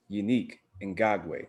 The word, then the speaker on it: Yannick Ngakoue: the signing well the trade of yannick well unique in gagwe that's the correct pronunciation just so y'all know uh going to